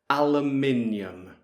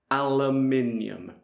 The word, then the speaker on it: aluminium: And I would say aluminium. Aluminium. Now I think Brian is going to say something different. So let's see. Aluminum. Yeah, I thought it might be different. Now, let's hear Pete. Aluminium.